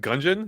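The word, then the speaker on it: Gungeon: here from syvia says as a is it gungon is that how you pronounce that yeah as a gungon buff this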